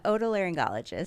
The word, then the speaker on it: otolaryngologist: And I'm going to try to announce what your board certified otolaryngologist? Otolaryngologist.